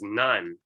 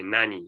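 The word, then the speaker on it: 何: more frequently so okay so very often pronounced as none and most of the i i guess most of the cases are pronounced none it's kind of rare to say nani because nani is kind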